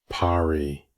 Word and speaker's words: pari: Pari, two syllables.